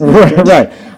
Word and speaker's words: New Madrid: which by the way is spelled Madrid but pronounced M right but of course we pronounce it Madrid yeah New Madrid Missouri infuriating um tell that to the folks in